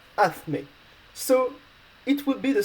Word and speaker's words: hazme: you can see that it's ending with an E, so the rules say that you need to stress the last but one vowel, the vowel from the last but one syllable, so the A in this case. So you need to say hazme.